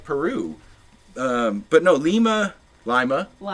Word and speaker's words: Lima: It's pronounced Lima."